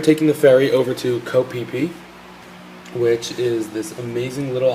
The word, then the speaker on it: Koh Phi Phi: And we were taking the ferry over to Koh Phi Phi, which is this amazing little island. It's spelled Phiphi, and Koh is what goes in front of all the island names in Thailand.